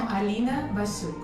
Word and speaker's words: Alina Basyuk: Well, my full name is pronounced Marat Gimaev. Gimaev, okay. And I'm Alina Basyuk.